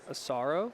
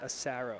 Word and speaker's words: Asaro: time around too so people in California pronounce it a sorrow yeah and then East Coast like Northeast New York accent would say Acero what do you say